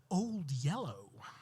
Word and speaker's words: Old Yeller: It was a classic Old Yeller. Soon after the titular yeller dog was introduced, I noted to my parents that they were pronouncing it wrong and that it should be old yellow.